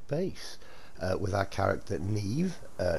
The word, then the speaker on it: Niamh: a nice big base uh with our character Neve uh spelled name but it's pronounced Neve so thanks for that Buttercup um yeah we're